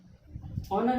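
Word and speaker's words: honour: ठीक, इसमें भी O से पहले H आया और वर्ड के शुरू में भी H आया, H हो गया साइलेंट, H हो गया साइलेंट तो क्या बचा, ONOUR, ऑनर।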